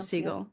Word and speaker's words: Segal: So, we should name your So, your, do you do you pronounce a seagull? You do pronounce a seagull.